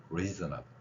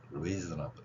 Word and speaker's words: reasonable: 흘리면서 나가는 겁니다 그래서 reasonable reasonable 이렇게요 자 여기에서도 마찬가지 강한 발음은 여기에 있습니다 그래서 레저 up 여기를 세게 지금 발음하고 있는 거예요 물론 제가 지금 뭐